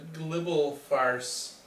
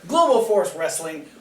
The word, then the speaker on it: Global Force Wrestling: I got and a Global Farce. Global Farce. Global Farce Wrestling. I got Global Farce first. Global Force Wrestling on October 23rd. That's how you say it.